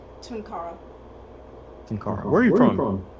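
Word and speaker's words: Tunkara: How do you pronounce that? Tunara.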